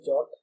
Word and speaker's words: JWT: It can also be pronounced as JOT.